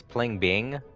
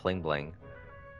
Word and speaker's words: Pling Bing: that oh bling bling i always pronounced his name wrong it's pling bing but i always kept calling him bling bling over bro mr